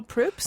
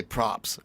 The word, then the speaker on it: Proops: People misspell Proops? They don't want to say it. If they see Is it because it's close to poop? Yeah, they'll say props, and I'll be like, okay, whatever.